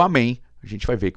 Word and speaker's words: amém: Então ia ficar um amém, você não ia conseguir pronunciar se isso aqui fosse um acento circunflexo, tá bom?